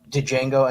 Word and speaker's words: Django: back with our uh dejango Unchained with our Quentin Tarantino retrospective oh yeah that would be great first things first the D is silent and also on Monday